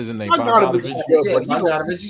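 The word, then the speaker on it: Bogdanović: is good, Yeah, but Bogdanovich, you said it right.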